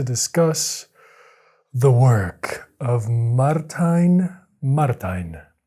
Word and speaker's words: Martijn: the work of martin martin i believe it's martin because he is dutch and i just did some googling and that is seems to be how you pronounce this name in dutch martin okay maybe i'm